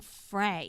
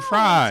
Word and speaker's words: Frey: That you're saying Frey because of the and way it's spelled. Yeah, but you Glenn know, Fry.